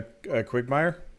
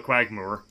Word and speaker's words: quagmire: A quigmire? No, a quagmire.